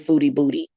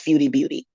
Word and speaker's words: Foodie Beauty: beauty booty foodie booty she pronounces it foodie booty but it's feudi beauty okay and they you